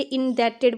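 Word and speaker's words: indebted: यहाँ पर एक वर्ड है इंडेप्टेड, मोस्टली लोग इसको पढ़ते हैं इंडेप्टेड, ये इंडेप्टेड नहीं है, यहाँ पर बी साइलेंट है, ये इंडेप्टेड पढ़ा जाएगा।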